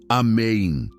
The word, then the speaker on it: amém: Ela dizia amém, com ênfase na última sílaba.